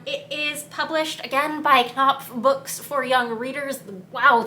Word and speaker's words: Knopf: is published again by Knopf Books for Young Readers. Wow, that is hard to say. Am I even saying that right? I do think the K and the P are both pronounced.